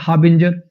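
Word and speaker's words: harbinger: हाबिंजर हारबिंजर ये आर लगभग साइलेंट सा ही हो जाता है। हाबिंजर हाबिंजर एक ऐसा पर्सन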